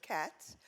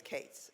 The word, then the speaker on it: Cates: It's usually, in New York, it would be pronounced Katz. I'm from Boston. That's why it's Cates.